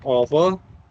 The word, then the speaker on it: over: एक होता है ओवर। अब ओवर मत बोलना। ओवा बोलना ओवा पर जो होते है ना साइलेंट चले जाते हैं।